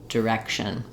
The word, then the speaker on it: direction: with that first syllable just start on the stress syllable rection Direction um once you can